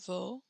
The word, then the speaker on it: vos: Your, plural or formal, votre, vos. So we do not pronounce the s's here.